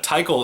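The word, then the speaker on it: Tikal: a girl wishing title it looks like it's wishing to kill like but it's not ty Cole is spelled tik al I have it on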